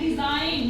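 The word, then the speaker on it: design: जैसे अगला एग्जांपल है डिजाइन डी ई एस आई जी एन इसको बोलेंगे डिजाइन डिजइन हमने जी नहीं बोला य डिजइन ठीक है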